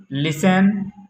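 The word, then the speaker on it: listen: टी कब silent होता है? मेरे प्यारे बच्चों, देखेंगे टी ई एन और टी सी एच में टी साइलेंट होता है। जैसे लिसन, ऑफन, मैच, कैच।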